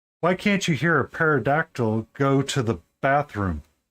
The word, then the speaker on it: pterodactyl: Why can't you hear a parodactyl go to the bathroom? Because the P is silent.